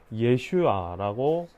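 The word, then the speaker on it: ישוע: 어, 그리스도 그리스도 발음으로 하면 어, 이예수는이 이름은 히브리어로 예슈아라고 할 수 있습니다.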